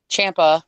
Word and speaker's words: Ciampa: I cannot wait until Saturday so I can publicly embarrass myself as I pee my pants with joy when Tommaso Ciampa rhymes with Tampa.